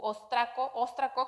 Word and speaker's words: óstraco: Encontraron unas cartas de Laquis, u Óstraco, creo que la pronunciación está, yo la dije mal, la pronunciación son muy mala para pronunciar palabras que no utilizo comúnmente, que son nuevas en mi vocabulario, pero ahí marca el acento en la O.